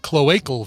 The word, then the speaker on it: cloacal: by the way i got corrected on the pronunciation cloacal vent cloacal vent cloacal vent luke just shoot